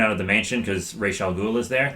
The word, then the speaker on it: Ra's al Ghul: Yeah, he has to get everyone out of the mansion because Ra's al Ghul is there. That is how it's pronounced. Ra's al Ghul.